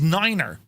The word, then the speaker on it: niner: AIT T eight yeah nine is Niner because nine could sound like five over the airway it's it's just the